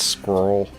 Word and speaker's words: squirrel: Sorry for your for the American viewers, it's squirrel cuz squirrel only has one syllable when you're in America. It's it's just squirrel.